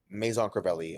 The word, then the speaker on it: Maison Crivelli: Missons, I don't know how to pronounce it. Misenser, Here. Misensier or Mason Crivelli? Uh, Maison Crivelli, or if you want to do the Maison Crivelli.